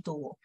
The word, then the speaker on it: tubo: Tuvo que comprar un tubo. Igual al tubo que tuvo. So the same one as the tube that he had. Basically, these two words are pronounced the same.